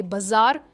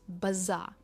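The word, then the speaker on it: bizarre: बाजार, पर ये बाजार नहीं है, इट्स बाजार।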